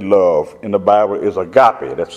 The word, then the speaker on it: agape: one that's translated love in the Bible is agape. That's spelled A-G-A-P, like Paul E.